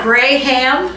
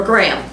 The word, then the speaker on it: graham: is it pronounced gray ham crackers or graham crackers is the h silent gray ham or graham graham crackers that's usually the way i pronounce them graham crackers